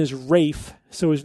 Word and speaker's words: Ralph: But it's pronounced in the old English way, Rafe.